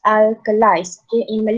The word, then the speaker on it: alkalis: six assets and alkalize okay so it is pronounced as alkalis we call it as alkaline okay so with